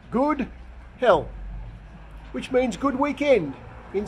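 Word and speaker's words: god helg: swedish curio here outside the supermarket this is pronounced good hell which means good weekend in swedish a little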